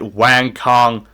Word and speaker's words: Wang: got another badass fight Wang Kong I'm not calling her Wong apparently that's how you say your name if your name is